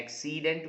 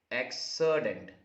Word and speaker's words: accident: can accident accident certainly we say okay not accedent we say what we say is accident let me just point